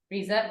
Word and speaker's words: Riza: It's only one time, and I'll never forget, because it was at a village called Riza, spelled like rise, like the sun rises, Riza.